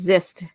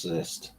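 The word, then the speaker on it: Xist: And the leader at the time is it, how do you say, Ist or Zist? Zist, X-I-S-T, Zist? Because I know Zizor was the one during Shadows, but this one, I think it's Zist, the name.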